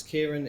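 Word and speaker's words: Ciaran: And if there's people that can connect with us on social media, connect with myself, it's Kieran, it's spelled Irish, C-I-A-R-A-N.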